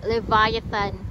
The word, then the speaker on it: Leviathan: l Okay so i search it and it's pronounced leviathan ito para ma-try ni Andrea Oha sila